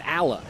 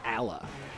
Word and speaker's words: Alaa: No, it's Alaa is the correct pronunciation, Jose. I actually asked him specifically for the correct pronunciation. It's Alaa. Al is in Alabama.